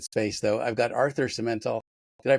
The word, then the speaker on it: Simental: I've got Arthur Simental. Did I pronounce that correctly? Yep, Simental works.